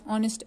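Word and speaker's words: honest: इसी तरह ऑनेस्ट एच से शुरू होता है लेकिन ओ की आवाज़ है एन ऑनेस्ट, an hour H silent है।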